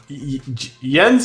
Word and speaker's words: Jens: my pronunciation the name the name Jen does kind of it sounds like a French name. Yens is a typical Scandinavian name.